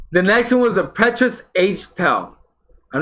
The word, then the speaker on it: Petrus: I think this is a hard name to pronounce, but it's Petrus.